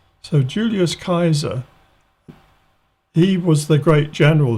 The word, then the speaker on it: Julius Caesar: we do in english it should be more like a k so julius kaiser he was the great